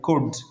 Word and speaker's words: could: یہ بھی could could so L is silent could right we should pronounce